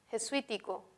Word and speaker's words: jesuítico: Jesuítico, que es relativa a la compañía de Jesús, lleva tilde por ser esdrújula, ¿no? La mayor fuerza de voz está aquí, en sui.